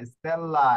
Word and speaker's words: stella: la estela goenda di স্টেল্লা, ogni স্টেলা না, স্টেল্লা, এখানে স্টেল, এরপরে হচ্ছে লা, স্টেল্লা।